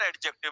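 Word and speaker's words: adjective: This is नॉट एडजेक्टिव बेटा, ये ए और जे के बीच का डी हमेशा क्या रहता है, साइलेंट। तो ये क्या पढ़ा जाएगा, एडजेक्टिव। क्या पढ़ा जाएगा, एडजेक्टिव। डी साइलेंट रहेगा इसमें।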